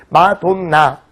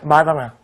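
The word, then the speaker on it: Madonna: 그래서 이제 마돈나 이런 발음은 이제 영국식 발음이라고, 그냥 우리식 발음이죠. 마돈나 이러면은. 근데 이제 미국식 발음은 어때요? 마다나 이런 식으로 얘기하죠.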